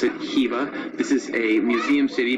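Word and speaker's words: Khiva: Alright guys, welcome to Kiva, or as locals pronounce it, Kiva.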